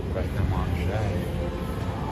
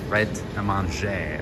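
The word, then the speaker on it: Pret A Manger: Pret-a-Manger. Okay. You don't say the R, right? The R is silent.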